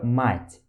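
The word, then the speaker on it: мать: Então, por exemplo, vamos comparar aqui a pronúncia entre essas duas palavrinhas aqui, ó. Aqui temos a palavra mat e a palavra mate, ok? Mat e mate. Você consegue perceber a diferença?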